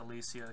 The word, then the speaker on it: Alicia: I pronounce it Alicia because that's how my friends pronounced her name with the same spelling.